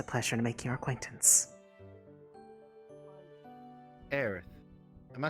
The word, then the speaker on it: Aerith: Aerith.